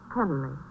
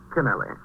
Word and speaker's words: Canelli: Oh, how do you pronounce it? Canelli or Kennel? Canelli.